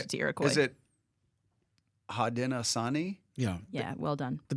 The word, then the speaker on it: Haudenosaunee: I think that Garrison put a really difficult native name for me to pronounce in there on purpose instead of Iroquois. I changed it to Iroquois. Is it Haudenosaunee?